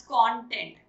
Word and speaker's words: content: Now, इसको pronounce करने के दो different ways हैं. One as content, when you want to use it as a noun.